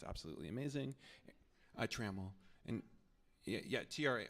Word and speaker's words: Trammell: Trammell. And yeah, TRA. Oh, I say Trammell, but you may pronounce it differently.